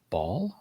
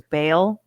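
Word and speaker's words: Baal: I've always heard is Bale but Bale Bale but that's the pronunciation I've always heard but I think it's actually ball ball ball ball it's like a baller ball yeah it's not late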